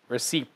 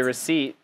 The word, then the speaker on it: receipt: like this whoa receipt there's a p but you don't say it receipt we don't say it we just say receipt no p but you spell it with a p okay victoria your turn